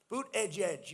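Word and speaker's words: Buttigieg: Boot, edge, edge. You say boot, and then you go edge, edge.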